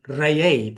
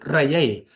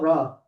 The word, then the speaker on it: Re: But what if that's the Greek rendition of the word Re, or more correctly, Reye? That's how we pronounce it, Reye, and Not Ra. not Ra. The proper tones, frequencies, and vibration will be Reye.